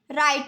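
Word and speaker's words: write: हो गया नेक्स्ट है राइट राइट में यह जो डब्लू है यह साइलेंट है रेंच डब्लू साइलेंट हो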